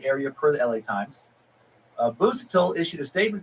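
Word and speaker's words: Busuttil: Bushito. Why am I saying his name? The Japanese pronounce now. My brain is just going on autopilot. Busatil. Dr. Ronald W. Busatil? No, Busatil, executive chairman of UCLA's surgery department.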